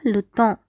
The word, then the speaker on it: temps: எப்பொழுதுமே எம் உடன் பேவும் சேர்ந்து வந்துச்சுன்னா இதனுடைய சவுண்ட் என்ல வரும். இப்போது இந்த வார்த்தையை எப்படி உச்சரிக்கணும்னா தான். இதில் எஸ் சைலண்ட்.